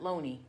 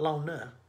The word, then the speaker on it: Lona: Spells her name Lona, but you pronounce it Loney. Right. It's not Lona. Right. It's Loney.